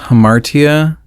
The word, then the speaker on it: hamartia: I think it's pronounced hamartia.